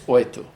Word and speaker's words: oito: It's spelled different in Portuguese. It has a T. It's oito. Mm-hmm. But in Sergipe, oito. Oh, that's very common in the Northeast, yes.